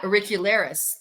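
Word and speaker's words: auricularis: Yeah, uricularis.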